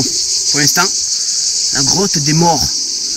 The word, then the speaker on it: Maures: Mais bon, pour l'instant, la grotte des morts. Alors quand on le dit comme ça fait un peu peur. Hein. Mais ça ne s'écrit pas M-O-R-T. Hein. Attention, c'est M-A-U-R-E.